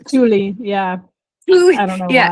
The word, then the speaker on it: Thule: It's Thule, yeah.